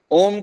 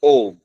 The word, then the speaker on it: ओम: ओम की 3 ध्वनियां हैं। पहली ध्वनि है ओम, दूसरी ध्वनि जो दीर्घ है वो है ओम, बस इतनी है। तीसरी ध्वनि है प्लुत।